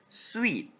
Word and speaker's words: suite: the new house so this word is not read as soon but it is sweet like you pronounce the word s-w-e-e-t a suite of furniture